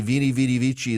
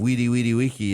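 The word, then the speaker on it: veni vidi vici: to change it and pronounce it the proper Latin way. I say vini vidi vici instead of weedy weedy wiki as well.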